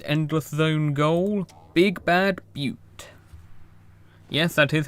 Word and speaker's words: Butte: into my next Endless Zone goal, Big Bad Butte. Yes, that is how you pronounce that.